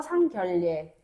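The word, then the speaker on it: 상견례: 우리가 이거 발음을 어 니은이랑 리을 만났다. 히히 그러면은 얘 리율로 바뀌어서 상결례.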